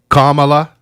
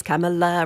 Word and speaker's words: Kamala: clip i saw says my name is kamala rhymes with pamela so i always do that in my head but kamala is not right and then i